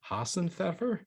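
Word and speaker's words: Hasenpfeffer: This Hassenpfeffer. I don't really think that's how you say it. Some No, German that's absolutely correct.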